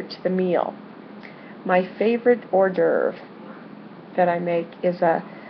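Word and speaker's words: hors d'oeuvre: French word having to do with food it's pronounced urve now you've probably heard of an Ur but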